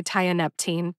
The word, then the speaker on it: tianeptine: are not my forte tianeptine makes sense to me so I recommend that you say tianeptine too in your lifetime you